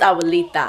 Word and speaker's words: Abuelita: I forgot, one of the amigas said, she's like, you know it's Awalita. I know it's Awalita, but I say Awalika because that's how she pronounced it since she was a baby, so I just went with it.